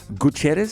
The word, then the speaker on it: Gutierrez: We are with Gutierrez.